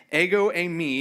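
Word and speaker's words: ἐγώ εἰμι: Ego emi is how you say it.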